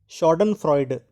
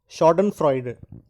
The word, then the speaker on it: Schadenfreude: Now, this second word, today's second word, it is taken from German language. The word is pronounced as Schadenfreude. Again, Schadenfreude.